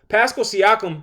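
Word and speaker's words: Pascal Siakam: Pascal Siakum.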